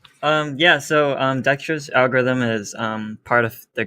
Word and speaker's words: Dijkstra's: I don't even know how to pronounce this. Dijkstra's algorithm? Dijkstra's, yeah.